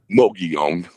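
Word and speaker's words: Mogollon: I can't pronounce it right. Moion.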